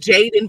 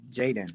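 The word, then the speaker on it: Jaydan: no that's it's on a birth certificate he's pronounced jaden but a spell j-a-y-d-a-n oh okay jaden cause his dad didn't want a junior so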